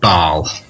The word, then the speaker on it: Bâle: The French call it Bâle. That's the French pronunciation of it.